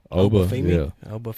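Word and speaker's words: Oba Femi: Uba Oafimi.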